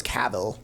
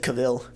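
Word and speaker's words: Cavill: sounds weird Henry caval I was thinking about how you used to pronounce it or I said cavil yeah D they were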